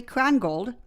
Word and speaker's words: Krongold: On today's show, we are thrilled to be speaking with Krongold. Is that correct pronunciation?